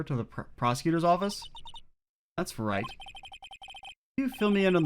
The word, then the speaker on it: Wright: w on there but you don't you don't pronounce the w the w is just there it's like a joke